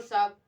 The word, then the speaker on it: साहब: बहादुर साहब दिल बहादुर साहब यहां ह जो है साइलेंट है ठीक दिल बहादुर साहब उसके स्वर में एक